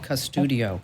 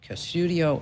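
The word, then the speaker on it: Qustodio: bark is one okay another one is called cudio and spelled with a q q us udio cudio or bark and just like we talked about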